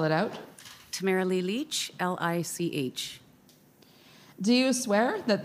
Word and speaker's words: Lich: please foreign please State your full name and spell it out Tamara Lee Leach l-i-c-h do you swear that the evidence to